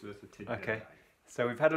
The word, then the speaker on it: Merthyr Tydfil: It's a V, not an F, it's Merthyr Tydfil.